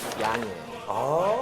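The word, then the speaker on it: Jan: 존의 네덜란드식 발음이 얀이에요.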